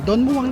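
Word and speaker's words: Don Mueang: Don Muang daw ang pagkaka-pronounce niyan eh.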